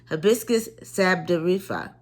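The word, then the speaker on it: sabdariffa: again the herb is hibiscus sabda rifa and is spelled h-i-b-i s-c-u-s and s-a-b-d-a-r-i-f-f-a sabdorifa and it also has another name called rosella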